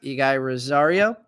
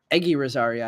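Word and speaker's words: Eguy Rosario: Mookie Betts Javi Baez ige Rosario Aggie Rosaria I think actually is the way his name is pronounced um Ali rauschman rookie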